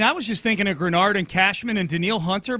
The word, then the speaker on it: Greenard: he said Texans fan it's it's pronounced grenard not greenard and I'm like all